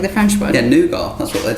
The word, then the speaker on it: nougat: Do you guys know what nougat is? No? Okay. Well, we would say nougat, because it's a French word, and I'm definitely siding on our pronunciation being more accurate to the origins of that word, but today we can